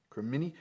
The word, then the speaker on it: cremini: Cremini. How do I pronounce that? Cremini? Cremini, there we go.